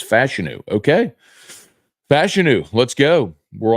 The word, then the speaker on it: Fashanu: uh Drew thinks the Saints should pick Olu fashanu at 14 and I gotta get a pronunciation because I'm starting to hear some people